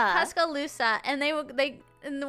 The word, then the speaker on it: Tuscaloosa: Oh, Tuscalisa. Tuscaloosa.